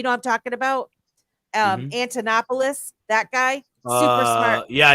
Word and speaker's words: Antonopoulos: in space him and andonopoulos I always say his name wrong those two I was listening to a lot you know I'm talking about um Antonopoulos that guy super smart